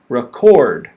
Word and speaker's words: record: with the word stress the second one is to record okay the stress is on the second syllable so the first syllable is chord record that's so quick listen to how quick i say it record i barely say it